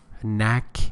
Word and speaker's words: knack: you can say style Knack n a a a I'm sorry k n a c k k is not pronounced neck or skill style